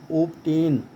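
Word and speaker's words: obtain: जैसे आप देखें, मैंने अभी बताया कि टी से पहले बी आए तो बी का उच्चारण नहीं होता, लेकिन ओपटेन ये एक इसका अपवाद है, एक्सेप्शन है।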